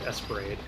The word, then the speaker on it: ESP Ra.De.: So it says the title, and I think they pronounce it Esperade.